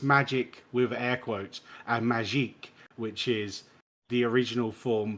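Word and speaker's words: Magik: it's supposed to be pronounced magique when it's got a K.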